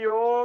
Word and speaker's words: योग: लेकिन योगा को जितनी पॉपुलैरिटी अभी मिली योगा है नहीं तो योग। आप देखिए, आप उसको योग भी बोल सकते हैं और इंग्लिश में योगा भी बोल सकते हैं, दोनों ही चीजें हैं।